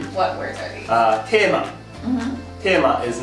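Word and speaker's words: テーマ: So if you just try to say the katakana tema in English, no one will understand.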